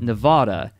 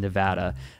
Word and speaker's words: Nevada: when people pronounce it Nevada people from Nevada often pronounce it in Nevada okay I didn't know